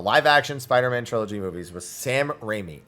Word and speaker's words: Sam Raimi: Spider-Man trilogy movies was Sam Raimi in Japanese his name is pronounced closer to Samurai me samurai samurai was what